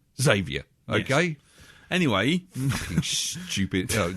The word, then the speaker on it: Xavier: Charles Xavier, not Charles X Xavier. It hasn't got 2 X's at the front, or X-Xavier. Okay, it's not like that,